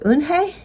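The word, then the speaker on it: Unhei: turning around it was Joey your name is UN he asked her with his eyes open wide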